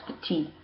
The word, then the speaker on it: petite: we're actually pronounced ee we're pronouncing the final consonant petite petite for the plural